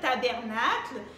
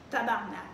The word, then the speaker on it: tabarnak: déjà visité le québec les bandits tabernacle mais bon nous au québec on dit vraiment adanac tabarnak c'est la prononciation exacte du jour ont maintenant